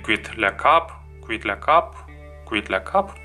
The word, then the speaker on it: Quitte la cape: Quitte la cape, или quit la cap, yeah. E is silent here.